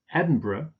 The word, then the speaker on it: Edinburgh: Canberra capital of Australia Chicago not Chicago Chicago Edinburgh Inverness stress on the last syllable and Aberdeen okay let's look at a